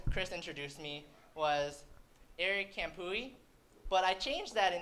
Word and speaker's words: Khamphouy: introduced me was eric campoey but i changed that in eighth grade because it's pronounced actually kampui but in eighth grade